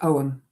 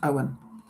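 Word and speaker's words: Ogham: It's the first in the alphabets um of both the runes uh and the um Celtic Owen, which is spelled O G H A M but pronounced Owen.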